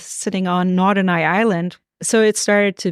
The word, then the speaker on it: Norderney: But I'm hoping you can introduce the listeners to Norderney. Is that how you pronounce it? Yeah, Norderney. Yeah, it's the oldest links course in Germany.